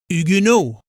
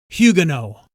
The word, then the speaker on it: Huguenot: By the way, the French pronounce the Americanized word Huguenot as Huguenot, while the British pronunciation is Huguenot.